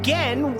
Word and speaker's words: Gehn: We also learned that I've been saying Gehn wrong correctly. I've not been saying it wrong.